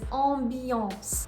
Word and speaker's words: ambiance: So the pronunciation for the first one is ambiance. You have 2 nasal sounds in there, A, M, followed by another consonant, B, and then the second nasal sound is A, N, followed by another consonant, C.